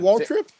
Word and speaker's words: Waltrip: This kid was in front, and Walker Whitetrip was in front of him. Hold on, say his name again. Hold on, Waltrip. There we go. You did not say Waltrip. You said Michael Waltrip.